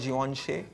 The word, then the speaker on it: Givenchy: So basically, we've been able to correctly guess the logo, but the pronunciation was wrong. We've been told it's called Givenchy.